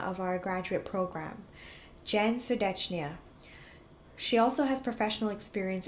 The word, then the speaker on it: Serdetchnaia: Notice how I did not pronounce the second T, something that I've learned.